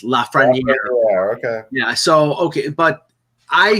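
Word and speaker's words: Lafrenière: um Alexi lafrana Air which I've been told that's the pronoun the correct pronunciation so I was corrected by somebody who speaks French in Toronto I'm saying la friend EI and it's laughs ready yeah so okay but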